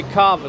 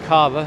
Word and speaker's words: Cava: then we have cava i don't know how they say it i say carver so it's kava there's tech of oz